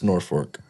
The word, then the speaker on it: Norfolk: It's Norfolk. Norfolk? yeah, fork. Like the It's utensil. fork? Yeah. Oh, there's no L?